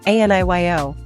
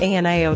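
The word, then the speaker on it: 아니요: Ne is straightforward, but aniyo can sometimes sound like ANIO to foreigners. Make sure there is a clean yo sound, with a slight upward inflection if it's a question.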